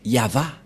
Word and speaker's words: Yahvah: et he et la prononciation de ceci c'est yava voilà euh la prononciation